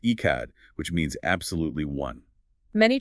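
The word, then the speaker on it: אחד: He is Echad, pronounced Echad, which means absolutely one.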